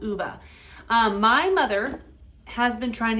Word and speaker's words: Ove: I looked it up, and apparently that's how Swedish people will pronounce this name. So, A Man Called Ove.